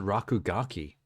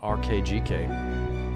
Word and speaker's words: RKGK: rakugaki available now oh you're supposed to pronounce it rakugaki not rkgk interesting there's no way to know that from reading it you have to hear it said I like Savor head